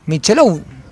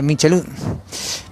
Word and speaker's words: Michelou: Bueno, acá nos dice Ximena que Rocío Michelou. Así la que la pronunciemos, Michelou. Estamos más acostumbrados a decirle Michelou.